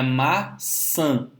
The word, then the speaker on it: maçã: Então é maçã, Se você colocar o seu dedinho embaixo do nariz e falar maçã, você vai ver que parte do ar sai pelo nariz. Diferentemente de quando você fala massa. Massa é apenas oral. Maçã tem essa última sílaba como sendo uma sílaba nasal.